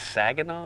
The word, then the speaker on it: Saginaw: a good guess cuz that's the right how you say it it's Saginaw oh nice tsegga now